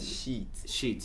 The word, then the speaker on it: sheets: Então a pronúncia correta é bed sheets.